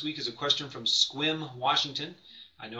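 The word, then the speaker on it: Sequim: last up this week is a question from squim Washington I know how to pronounce it cuz I used to live up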